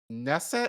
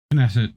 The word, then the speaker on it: Knesset: let me ask you is it nesset or knesset knesset do you have was what is it knesset with the K knesset okay uh um